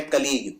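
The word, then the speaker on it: colleague: एस आएगा सी नहीं आएगा अगला शब्द है कलीग कलीग होता है जो आपके साथ काम करता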